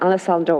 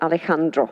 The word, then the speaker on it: Alejandro: Well done, Alessandro. Well done, Alejandro. That's the right pronunciation.